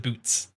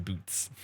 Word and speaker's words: Buuz: he does pronounce his boots listen it's spelled b u z but there's a there's a there's a ghost T in there oh I I know